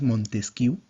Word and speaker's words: Montesquieu: Por ejemplo, tenemos por aquí a Montesquieu, ¿no? O también, como dicen algunos, Montesquieu, también se pronuncia así.